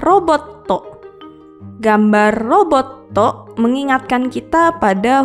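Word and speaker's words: ロボット: Berikutnya adalah gambar robot atau dalam bahasa Jepang adalah roboto.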